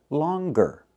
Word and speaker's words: longer: But with the word longer, we pronounce the G longer.